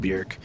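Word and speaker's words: Björk: cool to me and yes it's pronounced Bjork Bjork yes I got schooled and got told how to go learn how to pronounce it if I wanted to review all her music and I said fair point and it's basically like jerk but Bjork anyway I gave this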